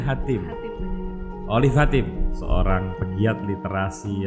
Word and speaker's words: Hatim: Dia adalah Olive Hatim, bacanya Hatim.